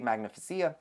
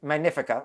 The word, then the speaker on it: Magnifica: now I'm in a small interior on MSE magnificia magnifica always say the name wrong but I don't need a junior suite